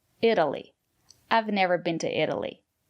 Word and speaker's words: Italy: Italy, Italian. Italy. The syllable after the letter T is not stressed. We pronounce the letter T as a fast D. Italy.